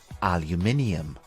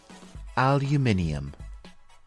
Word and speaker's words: aluminium: different pronunciations the American English pronunciation is aluminum aluminum and in British English it is called aluminium repeat after me aluminium it is interesting to